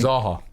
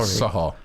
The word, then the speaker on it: Zaha: Zaha. Zaha. You said Saha.